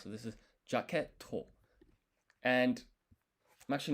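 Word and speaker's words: ジャケット: So it's actually you don't pronounce this. The point of this is to say that this to is actually with two T's, not one. It It's almost like a brief pause.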